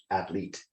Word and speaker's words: Atlit: I think it's Athlete. That's the way they pronounce it anyway.